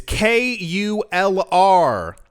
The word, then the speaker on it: Kulr: It's not how you spell it, but it's Kulr.